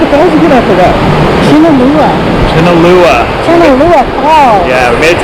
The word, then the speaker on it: Chilnualna: Chilnualna Falls.